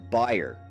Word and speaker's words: Bayer: Technically, it's pronounced Bayer due to its German roots, so we will be pronouncing it this way for the rest of the video.